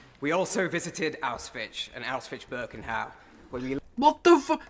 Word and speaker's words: Auschwitz-Birkenau: We also visited Auschwitz and Auschwitz-Birkenau, where we... What the fuck? How have you managed to mispronounce both of those places so badly?